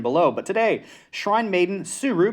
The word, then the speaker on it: Tsuru: but today shrine maiden suru because the t is silent and in a world